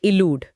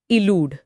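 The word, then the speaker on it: elude: ई एल यू डी ई। शुरुआत ई से और उच्चारण है इलूड। इलूड। यहां अ की जगह ई की ध्वनि है।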